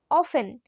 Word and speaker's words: often: তো এই যে প্রায়ই কথাটাকে ইংলিশে বলো অফেন। অফেন মানে প্রায়ই। স্পেলিংটা ঠিক করে দেখো, OFTEN, এখানে টিটা সাইলেন্ট।